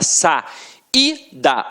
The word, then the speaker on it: saída: Você fala sa, i, da. O I teve som de I, por isso tem som de vogal.